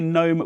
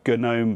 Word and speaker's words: GNOME: the comments section: yes, I say GNOME with a silent G, I've been saying it that way for the past 25 years. I know some people say Guh-NOME because of the connection to the GNU project and all of that,